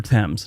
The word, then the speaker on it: Thames: While in London, make sure you ask a local where the Thames River is, and then stand there and wait for them to correct you. It's actually pronounced Thames, and it's the River Thames, not Thames River or Thames River.